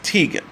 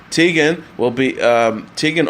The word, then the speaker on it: Teigen: Chrissy Teigen has posted on Twitter a video of herself explaining how to correctly pronounce her last name as Teigen.